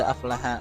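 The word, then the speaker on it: أفلح: Tadi dibaca qad aflaha man zakkaha, bacanya qad aflaha.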